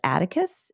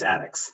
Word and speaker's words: Attucks: Let's fast forward then really quickly, and we're going to wrap up with Cyprus Atticus. Is that how you say it? Crispus Attucks.